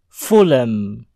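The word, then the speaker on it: Fulham: adalah pendekatan fulem kulem Huruf H pada kata ini dihilangkan sehingga bunyi huruf L bersambung ke huruf M menjadi vuln fulem Adapun pengecualian terdapat pada kata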